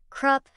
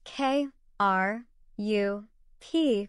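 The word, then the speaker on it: ครับ: When saying hello with a Y, women add ka, pronounce K, A, H, ka, to the end, while men say krup, pronounced K, R, U, P, krup.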